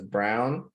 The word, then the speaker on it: Braun: agree and you know his name is spelled b-r-a-u-n so i say brawn but i've also heard his names pronounced as brown that's weird to me